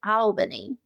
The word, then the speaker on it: Albany: Um, yeah, it's uh actually they say Albany. Oh, I think they add an extra syllable.